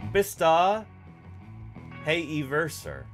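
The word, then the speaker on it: Bistahieversor: I remember seeing or they actually provide the pronunciation here B hey verer which is funny because I've I guess that's why they provided the pronunciation because I've always heard it pronounced bista High verser V hey verer oops Yeah a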